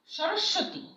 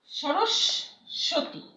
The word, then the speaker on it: সরস্বতী: সরস্বতী, সরস্বতী, হ্যাঁ, তালিবস্বরের মতো উচ্চারণ হচ্ছে এবং এই দন্তস্বরের নিচে যে ব আছে সেটা দ্বিতীয় উচ্চারণ হচ্ছে, সরস্বতী।